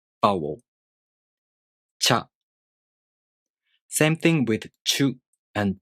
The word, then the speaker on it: ちゅ: Same thing with chu and cho. To pronounce chu, the tongue moves from the ch consonant to the u vowel. Chu.